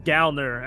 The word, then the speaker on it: Gallner: Yes, it's Gallner, and I've been saying Gallner forever.